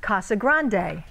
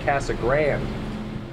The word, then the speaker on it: Casa Grande: we're talking about Casa Grande or is the correct pronunciation Casa Grande Brian Brennan made the drive